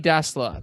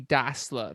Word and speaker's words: Dassler: So Adi Dassler, that's how you pronounce the last name. So to my thinking is it's not Dassler, it's Dassler. So Adi Das.